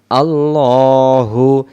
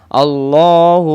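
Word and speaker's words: الله: ল হা পেশ হু আল্লাহু এখানে আল্লাহু বলবো আল্লাহ শব্দের ডানদিকে জবর থাকলে আল্লাহ শব্দের লামটাকে লা পড়ে ল মো মোটা করে পড়তে হয় আমরা বলবো আল্লাহু লাম আলিফ জবর লা তিন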